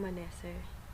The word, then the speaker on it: Manese: Anyway, again, my name is It's Manese. Manese nga pala, sa mga nakakamali sa pag-pronounce sa pangalan ko.